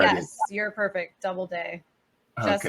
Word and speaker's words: Doubleday: Doubleday, just Okay. like it's spelled.